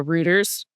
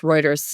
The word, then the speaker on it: Reuters: Um, the difference between the F1 headline and the Ruters headline. I know it's pronounced Reuters.